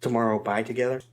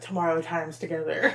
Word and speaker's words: Tomorrow X Together: It's written out as Tomorrow X Together, but it's pronounced Tomorrow by Together.